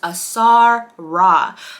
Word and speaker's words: Asara: My daughter's name, the correct enunciation of her name is pronounced Asara.